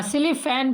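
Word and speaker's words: Schlieffen: Saline अरे यार हां स्लीिफन प्लान क्या है? स्लीिफ एंड प्लान यह स्लीफैन लिखा हुआ है। सीएचए इसमें साइलेंट प्लान किस देश की युद्ध योजना थी?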